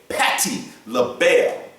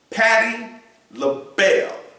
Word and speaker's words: Patti LaBelle: Patty label. Patty label.